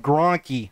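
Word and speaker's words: Grankkey: i always call him he said it's g-r-a-n-k-k-e-y that's sort of how you pronounce it so we're gonna go with gronkey not just gronk you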